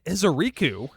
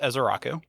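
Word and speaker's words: Ezeiruaku: Take Donovan Ezeriku, the Micah Parsons of Dallas. So, pretty sure it's pronounced Ezeraku, but it's okay.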